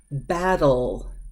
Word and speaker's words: battle: II that all sound so when the T is before the old sound now watch these ones battle battle battle that L is up